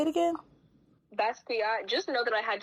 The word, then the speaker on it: Basquiat: Oh, I can't pronounce that. Basquiat. Say it again. Basquiat.